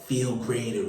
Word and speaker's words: FeeLgr8r: I'm here to tell you that Feel Greater is spelled FeeLgr8. That's the number 8 now. R. Now say it fast with me. Feel greater, feel greater.